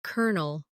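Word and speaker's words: colonel: For example, kernel is spelled c o l o n e l, but sounds like kernel or bologn, which is spelled b o l o g n a but pronounced bologn.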